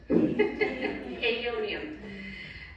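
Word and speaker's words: Aeonium: of these it's I had to get on Google and figure out how to say this aium okay ionium succul succulents does anybody know succulents am I saying that right iium there we go what she said aium uh outside the lobby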